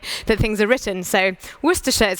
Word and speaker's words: Worcestershire: very good at having all kinds of complicated pronunciations that don't look anything like the way that things are written so Worcestershire is how you say this but you'd be